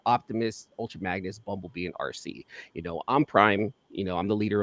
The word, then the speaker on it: Arce: I named her RC. It's spelled ARCE.